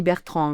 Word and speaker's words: Bertran: Or, moi, mon nom s'écrit sans D, et il est très courant en Catalogne, il y a des Durand, il y a des Bertrand, mais c'est, Bertran. Il n'y a pas le D à la fin.